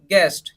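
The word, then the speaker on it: guest: का मतलब क्या होता है अनुमान थर्ड देखिए गेस्ट जी यू ए एस टी पढ़ेंगे तब भी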